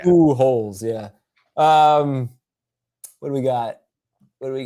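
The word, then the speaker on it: Pujols: of course is that is that how it's pronounced now you know they put like the pronunciation oh okay ooh holes yeah um what do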